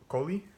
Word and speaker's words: Kohli: culture's transgender moment by Sonali Kohli Sonali Coley I believe it's pronounced and this is about